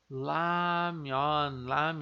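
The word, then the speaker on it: 라면: Lembrando aqui, ó, tá no início da sílaba, né? O nosso liano, então ele tem som de L, né? Tá no início ali da palavra, né? No caso aqui. Então ele tem o som de L ali.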